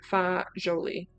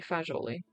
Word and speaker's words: fagioli: Pasta e fagioli. Pasta e fagioli. Okay. I assumed it was going to be a soft G. And then I said it with a hard G, kind of like a dickhead.